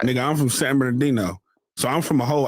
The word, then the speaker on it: San Bernardino: San Madino. Same. I can't say that shit. San LA is different. It's easier to say. San Bernardino. Or you can San Bern. Hold on. Say it right. San Bernardino.